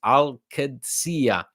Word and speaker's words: Dybala: to celebrate the end of this Saga it's pronounced like this aladia okay Alia thank you so much Abdullah sorry